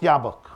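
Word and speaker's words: Jobbik: it's pronounced jab it's it's written jab it's pronounced yabok and the leader of that party is a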